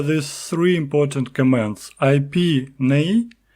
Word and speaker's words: neigh: But now you can use IP with key nay. So it is spelled N E I G H.